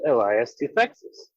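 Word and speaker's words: Elias Toufexis: I want to give props to Elias Tufexis. I think that's how his name is pronounced.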